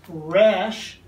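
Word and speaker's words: ר: letter for consideration is the r sound in hebrew pronounced rash and we have this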